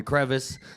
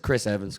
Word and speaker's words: CHRVNS: They always call me. They call me Krevis. I've gotten called like cuz chs and they always spell it that. It's just Chris Evans.